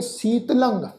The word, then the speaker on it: शीतलं: तो इसका जिहड़ा पाठ आ ससे नूं बिहारी तत्ता लले उत्ते टिप्पी की मात्रा, इसका पाठ उच्चारण करांगे शीतलंग।